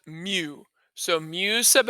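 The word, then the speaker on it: μ: here is the formula so this guy is pronounced mu so mu sub x equals and now this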